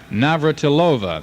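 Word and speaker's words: Navrátilová: And also we in tennis, teenager Martina Naillovva, that's how they pronounce it over there, moves into fast company today in the semi-final round of women's tennis at Orlando, Florida.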